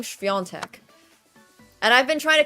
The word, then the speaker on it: Świątek: And I've been trying to convince everybody that her name is pronounced Świątek. But then everyone's like, no, Świątek or something. And I'm like, it's Świątek. The A is like this N thing.